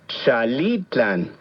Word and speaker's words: Xalitlan: Xalitlan. ¿Escuchaste con atención? Xalitlan. Recuerda que en el náhuatl las palabras se acentúan en la penúltima sílaba. Xalitlan.